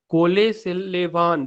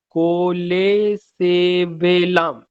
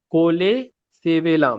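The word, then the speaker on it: colesevelam: कोलेसेलेवान, देखो नाम देखो, कोलेसेवेलाम, मेरा प्रोनाउंसिएशन भी गलत था, कोलेसेवेलाम, ये सब जान के रखना।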